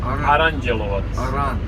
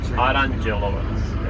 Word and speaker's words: Aranđelovac: How do you pronounce it? Aranđelovac. Aranđelovac.